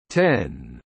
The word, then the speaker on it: X: The letter X in Mac OS X's name refers to the number 10, a Roman numeral. It is therefore correctly pronounced 10 in this context.